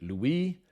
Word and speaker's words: Louis: the 9th of France the French pronounced it Louie we pronounce it leis